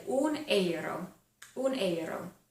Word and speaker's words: euro: So they would say un euro, un euro. They just pronounce euro a little bit differently over there because they pronounce pretty much every letter.